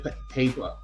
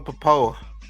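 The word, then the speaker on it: Pappoe: Owen Pa, I can't say his name. Po. Uh Zan Collins. Yeah, Owen Poa. Owen Po, thank you.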